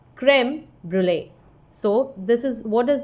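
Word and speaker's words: crème brûlée: What is the pronunciation of this? Creme brulee. It's also given in your book. You can see it here. It's creme brulee.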